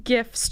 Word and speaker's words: GIF: I like using GIFs too because I they use GIFs so That's much.